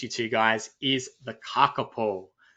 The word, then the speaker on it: kakapo: to, guys, is the kakapo. It's hard. That one's I've got to say it properly. If my Australian accent came out to be kakapo, but is the kakapo.